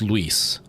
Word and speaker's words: Luis: Luis, and it's pronounced Luis. It's pronounced like Louise, but instead of the Z sound at the end, it's an S sound.